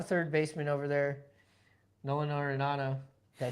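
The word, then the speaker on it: Arenado: Also have a third baseman over there, Nolan Arinado.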